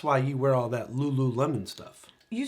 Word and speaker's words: Lululemon: good marketing that's why you wear all that Lulu Lemon stuff you said it correctly was that how